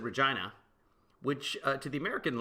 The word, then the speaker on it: Regina: and so she got ver no it's called Regina do not pronounce it Regina yeah all right thought she was nuts and